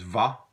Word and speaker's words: va: that in French and it's pronounced most of the time as vah the verb aller becomes pronounced vow it's Holi with the